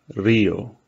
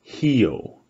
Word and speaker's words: Rio: If a word starts with an R, it's pronounced like an H, right? So in Brazil, no one says Rio. It's Rio.